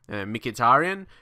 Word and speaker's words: Mkhitaryan: properly if you can mkhitarian I thought I think that's pretty much how you pronounce his name in English probably not 100% correct